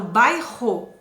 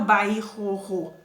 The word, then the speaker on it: bairro: erres como eu falo bairro apesar de ter dois erres eu pronuncio uma vez só eu não falo by erro né bairro então o r r